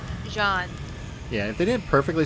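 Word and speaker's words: Jeanne: Like, if they didn't so perfectly set up Jean and Bayonetta, like, or Jean and Bayonetta, how do they pronounce her name? Jean.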